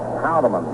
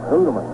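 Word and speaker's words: Houtteman: Of course, the strangest case of pronunciations is that of Art Houdeman. His father called it Hoodeman.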